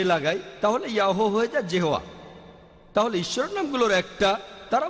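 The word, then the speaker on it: Jehovah: ঈশ্বরের একটা নাম আর উচ্চারণ করার সময় তারা সামনে একটা যে লাগায় আর এটা হয়ে যায় জেহোয়া এই হলো শব্দটার অর্থ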